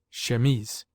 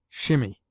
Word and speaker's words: chemise: unless compelled to shimmy we derive from the french language our word chemise pronounced chemise in french the word denotes a man's shirt as well as the undergarment worn by women in this country it is often pronounced by people who should know better shimmy rather than call it shimmy resume the use of